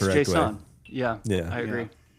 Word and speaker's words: JSON: Uh like I I I pronounce it like more JSON rather than JSON because like people will hear Jason and be like who what? Yeah, it's not Jason. It's JSON.